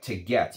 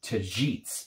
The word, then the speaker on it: tagetes: It is spicy and oriental in style, and they basically use this notes of, it looks like tagetes, but it's actually pronounced tagetes, if I'm not mistaken, tagetes.